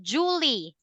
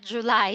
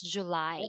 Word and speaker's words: July: encounter some Vietnamese students they pronounce um Julie not July so there is some